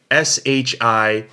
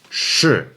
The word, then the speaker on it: 是: word for to be which is sure Shi in the fourth tone sure alright so that means